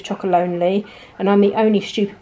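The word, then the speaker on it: Chocolonely: and then look again I did not realize it said chocol lonely I always pronounce it Tony's chocol Loney so let me know in the comments if you knew it was chocolate lonely and I'm the only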